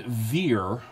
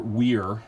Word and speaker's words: vir: in certain usages but the word veer or weir as it would have been pronounced in classical times vir connotes um masculinity